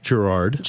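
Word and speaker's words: Girard: sounds interesting and then your last name is Gerard I just read I learned that yes you say it like the street you're not from here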